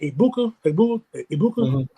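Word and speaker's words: Egbuka: Ibuka.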